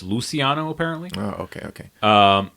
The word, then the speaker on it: Luciano: In the movie they pronounce it luchiano, like it's spelled, but it's Luciano apparently.